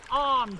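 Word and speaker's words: Avon: on today no no and this is the arm coming in from the right just beyond PA so it's spelled Haven but it's actually pronounced AR so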